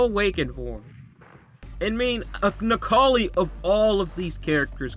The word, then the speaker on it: Necalli: Because someone told me in the comments that it's pronounced Necalli.